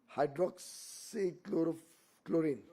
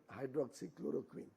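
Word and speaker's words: hydroxychloroquine: There was also that hydroxychloro chlorine hydroxychloroquin. Well, world leaders couldn't pronounce it properly.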